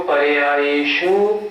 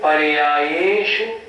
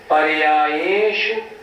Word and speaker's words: पर्यायेषु: तो पढ़ते हैं सर्वद्रव्य पर्यायेषु केवलस्य, ये गलत हो गया। हमें जोर देना है पर्याय ये पे, शु पे नहीं। उच्चारण कैसे करेंगे? सर्वद्रव्य पर्यायेषु, पर्यायेषु, शु छोटा है ना, पर्यायेषु केवलस्य।